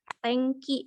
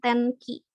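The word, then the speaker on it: 天気: Ini dibacanya eng. Kayak romaji NG dibacanya eng. Makanya ini dibacanya tengki, bukan tenki. Dibacanya tengki gitu.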